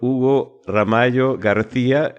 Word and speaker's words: Hugo Ramallo García: En Capicúa FM damos la bienvenida al señor Hugo Ramallo García, gerente general de la empresa CTL. ¿Lo he pronunciado bien, Hugo?